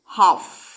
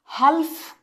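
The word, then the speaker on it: half: তুমি উচ্চারণ কি করো? হাফ, হালফ করি আমরা। তাহলে সাইলেন্ট কে হচ্ছে? এই এলটা কি হচ্ছে? সাইলেন্ট হচ্ছে, রাইট?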